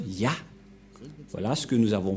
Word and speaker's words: Yah: Cette forme se prononce Yah.